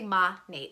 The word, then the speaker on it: Monat: people always say like how do you say the name maneet okay I say ma Nate because I think modern nature is what it stands for so it's science and nature so we're non-toxic we're vegan